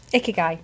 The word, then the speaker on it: Ikigai: How do you pronounce that? Ikigai.